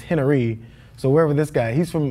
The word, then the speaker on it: Henery: It's not even spelled like Henry. It's Henery.